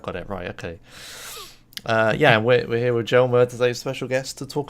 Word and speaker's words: Jelmer: butcher your name I'm sure of it is hello hello is that those that vaguely right